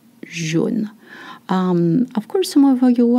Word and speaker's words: jaune: The different sound, AU makes the sound O, jaune.